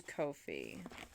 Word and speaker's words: Ko-fi: On Twitter, they say rhymes with no fee. So it is Ko-fi.